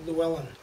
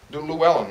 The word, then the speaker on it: Llewellyn: Double L. Llewellyn. Llewellyn, okay. Llewellyn, okay. It's got that what is it, Welsh-looking word to it.